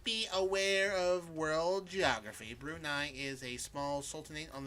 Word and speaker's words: Brunei: For those who, again, may not be aware of world geography, Brunei is a small sultanate on the island of